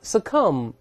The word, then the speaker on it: succumb: 还有你像 succumb，我们讲过这个 b 不发音了，表示什么呢？